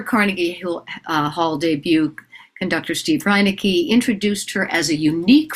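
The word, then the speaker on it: Reineke: Stephen, oh my God, I'm going to mispronounce Steve's last name, Reinecke, right? Yeah. Yeah. Really? Did I get that right? I'm absolutely sure. Yes. Okay. You got it.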